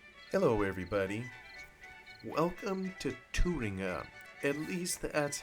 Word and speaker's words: Thueringer: At least that's how I suppose the map is pronounced. It's a German map spelled Thueringer. Thueringer. At least that's, when I put it in an online translator, that is what the German voice says in terms of how it's pronounced.